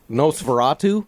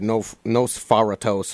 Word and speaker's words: Nosferatu: Nosferatu. I said that right? Yeah. I said Nosferatos for like the first 2 months, and then I put it in a rap. Said it wrong in the rap.